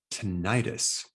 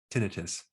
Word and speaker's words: tinnitus: Today, we're going to show you a technique on how to stop tinnitus, or you can pronounce it tinnitus.